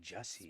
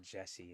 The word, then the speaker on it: Jussie: yeah, that's Jesse Smollett. I don't even. It's like Jussie. Smollett? It's not. Smollett. It's not Jesse.